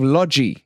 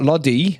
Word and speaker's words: Lodi: it is of course we have lodgy yes lodgy not Lottie not Lottie you gotta pronounce it the Brazilian way as um Mario explained